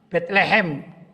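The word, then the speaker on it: Bethlehem: dalam bahasa Arab baitullahmin Betlehem menurut bahasa Inggris bacanya Ya Betlehem baitulahmin baik ya Ikhwan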